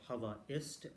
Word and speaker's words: Havaist: It's called Hava Ist. They do have a app as well. It's spelled Havaist.